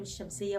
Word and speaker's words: الشمس: الذي يليها مشدد زي كلمه ايه الشمس بص لي انا ما نطقتش ل خالص سني ما اتقلبش قلت الشمس من الالف على الشين كلت اللام طب ما اكتبهاش بقى